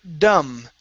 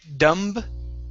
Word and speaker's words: dumb: up is the word Dum now this word uh the B is silent so we don't say dumb but it's only an M sound at the end the word is dum dum dum okay very